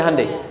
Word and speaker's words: Hyundai: Hyundai kan dibacanya Hyundai, ya kan?